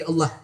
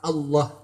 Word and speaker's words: Allah: cara dibaca tipis apabila lafadz Allah itu didahului huruf yang berharakat kasrah bismik bismillah dalam